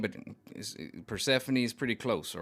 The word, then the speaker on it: Persephone: I pronounced it right. Persephone.